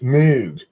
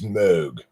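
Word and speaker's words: Moog: North Carolina new fast it's not pronounced mood its mode poor people steal off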